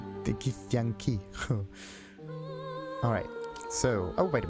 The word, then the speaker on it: Githyanki: Okay, it's like Gith and Yankee. Sweet. The Gith Yankee. Gith Yankee. Gith Yankee. If you pronounce it very, very weirdly, it sounds like idea or memory. In German. Gedanke. Githyanki.